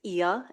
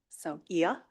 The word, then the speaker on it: Ia: My name is Ia, Transit and Parking Director. And just for the record, my name is pronounced Ia, as in Maria, Sophia, Mamma Mia. So Ia.